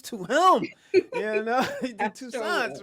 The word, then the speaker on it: Toussaint: Is it Toussaint? Toussaint? Yeah, Toussaint. Toussaint.